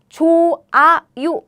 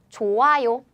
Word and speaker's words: 좋아요: Korean h sound is very weak. So 짠, 짠. When this nasal sound and real meet sound, the sound is gone. For example, 좋아요. And some people would think, so you pronounce it like 좋아요, right? 좋아요. Because of this sound, right? Nope. This Korean sound is very weak, so you can pronounce it like 좋아요. It's not 좋아요.